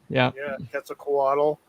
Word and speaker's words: Quetzalcoatl: You look at the Quetzalcoatl. Quetzalcoatl in Mexico and South America. Right. It's everywhere. Thanks for the correction and pronunciation there.